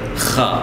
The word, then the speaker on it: خ: For example, it's the letter Kha. You have to do is put an A before the Kh sound and stop on the Kh sound. Akh.